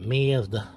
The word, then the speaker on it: Mazda: By the way, this is, in case you have a Mazda, that's how you pronounce it, Mazda, 10 millimeter for everything.